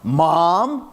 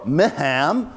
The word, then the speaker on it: MHAAM: Center program idea initiative the variously pronounced mom or mahom or M ham the Max Planck Harvard